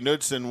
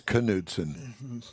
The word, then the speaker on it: Knudsen: look at it, Bunkie Knudsen was the uh he worked for Henry Ford. I thought it was Knudsen. Yeah, either way. Yeah, whatever. I always called it Knudsen. Cuz the K is silent.